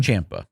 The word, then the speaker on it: Ciampa: Ciampa, rather. Ciampa rhymes with Tampa.